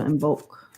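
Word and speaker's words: Imbolc: n b o l c is how you spell it so in bulk okay thank you wyoming i forgot the question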